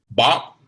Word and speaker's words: Bach: Bach?